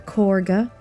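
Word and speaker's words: Kagha: the Grove already last episode we spoke to corga who name is weirdly pronounced like that even though it's spelled with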